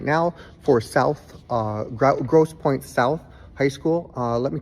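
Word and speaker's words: Grosse Pointe South: I did pronounce their their school wrong by accident. It's Gross Point South.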